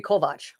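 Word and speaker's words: Kovács: It used to be Kovac. Right? Kovac. But they used to be Kovacs because CS in Hungarian is a ch sound, right?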